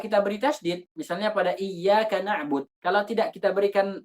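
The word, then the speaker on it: إياك: Iyyaka na'bud.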